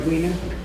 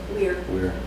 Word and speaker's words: Weir: George Weiner? Weir. Can you spell it?